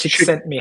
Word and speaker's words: Csikszentmihalyi: I'm going to butcher this pronunciation. Let's see if I can get a phonetical spelling of it somewhere. It's Chick sent me Csikszentmihalyi.